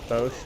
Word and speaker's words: Bosch: The Bosch one, or Bosch, that's how you say it.